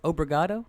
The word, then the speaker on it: obrigado: It's obrigado is how you say that.